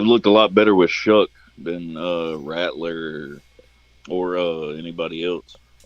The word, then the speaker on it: Shough: English, in English, there's no way you pronounce Shough as Shuck. Yeah. That's pronounced show in fucking English. Man, I used to think it was Tyler Shaw for the longest time.